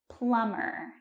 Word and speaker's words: plumber: do you call a plumber and that's tricky because the B is silent plumber now let's talk about